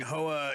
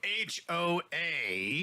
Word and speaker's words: HOA: sunny so John's saying HOA you're supposed to say each uh individual letter not try to pronounce it as a word oh so h-o-a not HOA yeah whatever